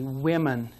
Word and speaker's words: women: that that man changes we make it into women it's pronounced a little differently women so some words change